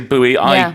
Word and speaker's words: buoy: in the headline is How do you say this boy up You say boy up Okay I think There's like two pronunciations one is boy one is booy Yeah the americans say booy I've never gone for buoy cuz It's It's sp b u And I say they're wrong Okay but both are actually correct both are correct I've never heard up